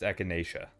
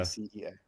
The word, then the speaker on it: echinacea: yeah, I think it's pronounced echinacea. Echinacea, is that it? I think so. I've only ever read it. How do you spell it? E China ECHINACEA.